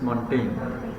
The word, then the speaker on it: Montaigne: Pronunciation is Montaigne. G will be omitted over there.